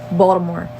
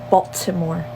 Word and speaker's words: Baltimore: to that list Baltimore there's no tea in Baltimore there's no T don't pronounce it like that if you ain't from here it's Baltimore Not Baltimore yeah that and mind